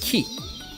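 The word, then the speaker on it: 木: If I remember, it's pronounced ki.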